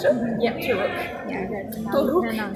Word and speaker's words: Toruk: Yeah, Toruk is actually the right way to say it. How do you say it again? Toruk. Toruk. R. Yeah, an R that's the role.